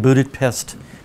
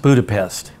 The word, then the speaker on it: Budapest: And it's not even pronounced Budapest. It's Budapest. So when you say Budapest, they all look at you like, can't you talk?